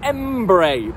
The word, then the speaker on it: Henbury: howdy welcome to Embry properly spell e m b u r y to the bristolians to everybody else is spelled h-e-n-b-u-r-y now Embry postcode bs10